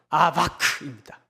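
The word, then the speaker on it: אָבַק: 이렇게 발음해야 됩니다. 야곱은 뭘까요? 야코프 이렇게 얘기를 해야 됩니다. 씨름은 아바크입니다.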